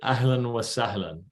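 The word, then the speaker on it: أهلاً وسهلاً: you want to get it's allen so a h l a n w a and then salon s-a-h-l-i-n so it rhymes a little bit ahelen wasallan and al means kinfolk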